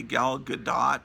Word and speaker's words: Gadot: I mean, it's supposed to be Gal Gadot, but it's real hard to pronounce that T.